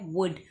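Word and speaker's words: would: फिर हम बढ़ते हैं अगले वर्ड की तरफ और हमारा अगला वर्ड है वुड, और वुड में एल साइलेंट है, तो हम इसे राउंड अप करेंगे।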